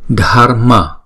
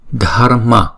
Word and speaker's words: Dharma: Âm AR này là chỉ đánh lưỡi thôi chứ không đọc là R ha.